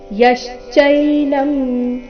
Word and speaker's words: ಯಶ್ಚೈನಂ: ಇಯ ಹಂತರೈ ಯಶ್ಚೈನಂ ಮನ್ಯತೆಹತಂ ಯಶ್ಚೈನಂ ಯ ಮೇಲೆ ಆಘಾತ ಮನ್ಯತೆಹತಂ ಉಭೌ ಇಲ್ಲಿ ಭೌ